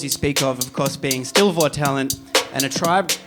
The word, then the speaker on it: Stil Vor Talent: Stil Vor Talent. That's how you say it in German.